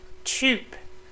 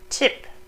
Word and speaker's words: Typ: Typ, not tip or type, but typ.